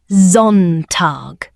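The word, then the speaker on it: Sonntag: Sunday pronounced zontag.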